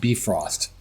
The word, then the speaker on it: Bifrost: So if you look up Marvel Heroes Bifrost, Bifrost, and actually I think it's pronounced Bifrost, inappropriate Viking lingo, you can access the other server.